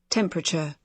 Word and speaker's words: temperature: Dá um tchan no final.